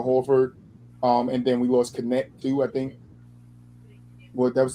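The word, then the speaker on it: Kornet: I can't pronounce the name. Luke Connect.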